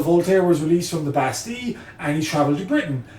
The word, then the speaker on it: Bastille: Most people pronounce it the Bastille, but if you really want to kind of get your chops in as a French speaker and as a person